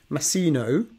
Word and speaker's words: Masino: I'm here today with Masino, if I pronounce that right, yes.